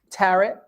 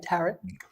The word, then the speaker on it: tarot: He's a dedicated teacher and a consultant specializing in astrology, tarot. I can never say it right. Tarot. Tarot's like carrot. Tarot.